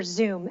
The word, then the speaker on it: Zum: in a partner for zoom and it's sound like Zoom but is spelled zum and they are a